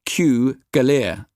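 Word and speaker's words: Cugullere: It's pronounced Cougalier, explaining why he'd been known as Sidney Kew.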